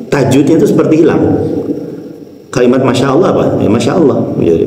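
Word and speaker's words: ما شاء الله: Masya Allah, maknya panjang, sya-nya panjang, kemudian a-nya pendek, kemudian Allah.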